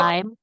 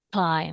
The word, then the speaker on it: climb: Ketika ada M dan B di akhir kayak gini, guys, kita nggak perlu diletupkan. Malah di silent. Ini silent letter. Kita belajar next level, guys. Oke. Ini B-nya nggak dibaca.